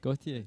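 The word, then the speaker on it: Gotye: Goit? How's that how you say it? That music video? You know the one I'm talking about? Gautier.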